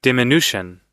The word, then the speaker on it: diminution: No, your pronunciation is quite wrong, Beowulf, because the actual pronunciation is dim. That's the first syllable. Dim. Then is an I. Then nu. And then shun.